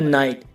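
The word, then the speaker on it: night: शांत रहे for example guys फाइट माइट और नाइट इन सब में वर्ड के लास्ट में जीएसटी है इसमें जीएच साइलेंट है फाइट फाइट की हिंदी है लड़ाई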